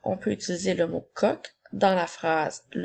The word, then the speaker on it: coq: Tout d'abord, nous avons un coq. Le mot un s'écrit UN. Ensuite, nous avons le son K, O, K. Attention, le mot coq est un des rares mots qui se termine par la lettre Q.